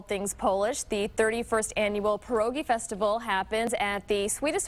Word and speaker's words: pierogi: Now, you gave me a pronouncer here. I keep saying pierogi, but tell me the right way. You're close. Pierogi Festival.